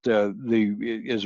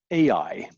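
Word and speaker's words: עַי: So I would be the correct pronunciation. If you hear someone say AI, that means they don't know how to pronounce the word. And you're allowed to feel a moment of sorrow for them. You can pity them that they never bothered to learn Hebrew. But you must never pronounce it AI. Always say I.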